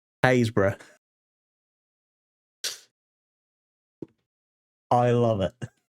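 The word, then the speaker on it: Happisburgh: Most people go Habisburg. That's how you pronounce that. Hisburg. No, no, no, no, no. That is pronounced Hbra.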